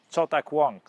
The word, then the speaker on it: Cao Dewang: today the story of se de wank in Chinese in Mandarin pronunciation chak Wang so Wang grew up